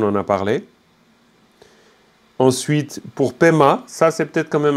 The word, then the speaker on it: Pema: textes sentjens on en a parlé ensuite pour pema ça c'est peut-être quand même intéressant vous avez paix pour lotus mais qu'on peut aussi écrire pma comme ça vous avez aussi à pema vous avez très souvent entendu peña peña peña